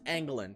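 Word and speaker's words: Engelland: is it Derek England I almost said no because it's pronounced Anglin England that's Eric Eggland's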